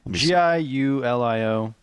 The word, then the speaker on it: Giulio: So Giulio Tononi, maybe? Giulio? Okay. G-I? Giulio. There you go. And there was a recent theory proposed. Giulio Totoni, I would say. Yeah, and the recent Giulio Totoni.